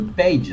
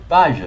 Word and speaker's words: Page: juste, je voulais dire, c'est pas la ville de Page, c'est la ville de Page. Ça s'écrit comme Bob Page. Enfin, Bob Page. Enfin, tiens, ce serait un I, tu vois. Il n'y a pas de I pour Page. Ah, mmh. Oui, bah, je pensais bien prononcer à l'américaine. Dès qu'on dit Bob Page et qu'il n'y a pas de A, on devrait dire Page.